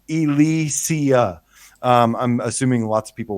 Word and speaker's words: Ilysia: I love the title it's pronounced Elysia I'm assuming lots of